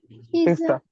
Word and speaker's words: pizza: Pizza.